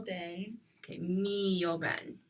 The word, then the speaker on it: mio: Caro mio ben. Okay, mio ben. The stress is on me.